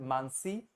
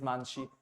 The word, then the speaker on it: Manshi: So, I asked you that is it Mansi or is it Manshi? And you are telling me it is Manshi.